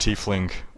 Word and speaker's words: tiefling: It's actually pronounced tiefling. At least that's how it was pronounced in an official Wizards of the Coast video.